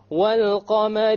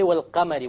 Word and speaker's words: والقمر: So we pronounce the lam.